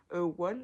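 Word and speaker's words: won: du coup vos contre des one, je crois ça se prononce comme ça, c'est W O N.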